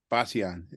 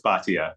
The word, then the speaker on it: Bhatia: Lott and uh Basia if I'm pronouncing them via10 yeah it's Bhatia yeah oh batian okay I got it correct yeah thank you